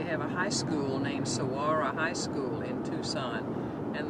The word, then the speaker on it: Saguaro: them cactuses they're called Saguaro s-s-a-g-u-a-r-o the GU sounds like a w so so yeah I